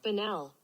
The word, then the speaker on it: banal: Banal. Pronunciation. Here we go. Let's all learn something, shall we? Come on. Banal.